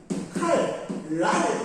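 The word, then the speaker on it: 칼날: 자, 칼, 랄 이렇게 바뀌죠.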